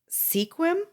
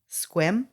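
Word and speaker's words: Sequim: and try it what take out the E and pronounce it like you would without the e squim good job Bandy you got it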